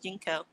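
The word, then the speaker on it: JNCO: Junko. I thought they were pronounced Jinko. I call them Junko. Junko. It was Jinko. Yeah, it's Jinko.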